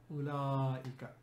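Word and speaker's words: أولاء: for plural we have ulla it's important to pronounce this because war is silent here it's written by silence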